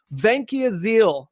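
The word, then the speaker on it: Vancaeyezeele: talk about thomas vanciazziel venkia zeal is the the pronunciation i've been talking about i think we're going to stick with it um right up uh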